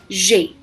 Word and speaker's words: j'ai: The first one is j'ai, that is I have. Here it's actually je, a, but we club it because e and a comes consecutively.